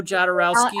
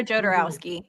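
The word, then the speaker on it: Jodorowsky: 70s where you had uh I can never pronounce his name right Jarowski. John Khloe Jatarowski Alejandro Jatarowski Alejandro Jodarowski.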